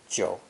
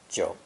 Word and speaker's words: 九: Our final character is an ideogram that belongs to the 3rd low dipping tone and is pronounced 九, 九.